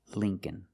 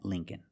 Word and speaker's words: Lincoln: The second L is silent, so it's Lincoln, Lincoln. Remember, the first syllable is a long E like green beans. Lee, Lincoln.